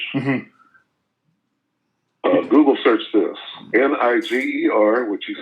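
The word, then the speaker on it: Νίγερ: Right here it says phonetic spelling. Tells you how to say it. Niger.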